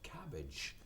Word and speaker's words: cabbage: remember cabbage for your cabbage remember the AG e we pronounced like each cabbage spinach rights B not got spinach okay alright you